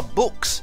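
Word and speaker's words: Bux: I know it's spelt Bucks, but it's Books. They say it in the first chapter that it's fitting that he's called Books because he loves to read books.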